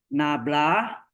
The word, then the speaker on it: nabla: do Z Oke ini dibacanya Apa dibaca nablah atau Del ya dibacanya nabla atau Del nah kemudian ee Misalnya